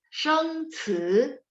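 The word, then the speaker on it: 生词: 一次，生子， C baca ada angin. 生词.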